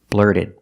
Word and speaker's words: blurted: the past blurted out the T in blurted is a fast D because it's after an r and before a vowel blurted blurted blurted out blurted